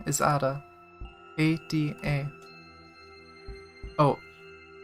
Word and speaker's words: Ada: My human name is Ada. A-D-A. Oh. Ida? She pronounces the last syllable of her name by deliberately plucking at the top palate with the tip of her tongue.